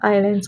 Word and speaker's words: island: है कि मैंने यहाँ आइलैंड्स को क्यों हाईलाइट किया है, तो लेट me tell you that आइलैंड जो शब्द है, सबसे पहले तो इसमें एस साइलेंट होता है, इसलिए इसको आइलैंड हम बोलते हैं।